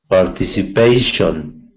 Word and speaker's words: participation: And participation in PA, the second. In front PA. Of the PA, yeah. Participation. Actually, it's the 4th syllable, but you got it right.